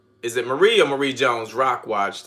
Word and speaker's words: Marie: Got a little, it's Marie. Got it. Is it Marie or not Mary, but you put Marie, Marie. So say yes if that's the way it's supposed to be pronounced.